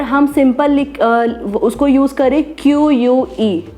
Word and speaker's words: CUE: यूज़ करें QUE, तो CUE is known as Q एंड QUE is also known as Q, तो उसमें भी आपका कोई डिफरेंस नहीं आ सकता। अगर कोई बोले कि CUE रजिस्टर्ड है, हमें तो QUE चाहिए, बट प्रोनाउंसिएशन इज़ सेम, तो वो आपको नाम नहीं मिलेगा।